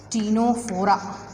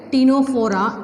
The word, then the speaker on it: Ctenophora: The phylum Ctenophora, see C is silent here, Ctenophora is divided into two